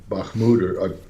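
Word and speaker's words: Bakhmut: the analysis the uh the battle for um bahmoud or he almost I can't am I pronouncing that incorrectly you're absolutely correct okay is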